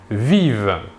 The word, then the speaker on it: vivent: pluriel ils ou elles vivent nous remarquons ici que la terminaison 1 mt à la fin du verbe conjugué à la troisième personne du pluriel ne se prononcent pas nous pouvons remarquer aussi